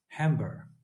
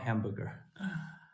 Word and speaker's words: Hamburg: Hamburg. Is that the right pronunciation? Hamburg, not hamburger.